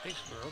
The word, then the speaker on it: Aisler: Playing it to the left side to Taylor Aisley, I believe that's pronounced. I'm going to need your help with that one. Uh-huh. This young lady right there. Aisler, okay.